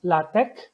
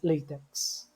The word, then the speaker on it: LaTeX: it is pronounced as la tech some people would pronounce it ATS Latics which is fine but you don't pronounce it as latex so la tech is a coding system